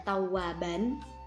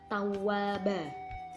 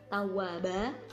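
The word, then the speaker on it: تَوَّابًا: lafadz tawwaba Hai nih Kalau tulisannya adalah tua ban Tapi karena ada waqaf di akhir ayat bacanya tawwaba fathatain disini diganti dengan madpad ha tawwaba dengan panjang satu Alif atau dua harokat beralamat Iwak sering mengerti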